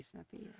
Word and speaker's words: Smithy: It's Smith-E. I mispronounced it a few times. I hope I'm doing good. Gotta be Smithy.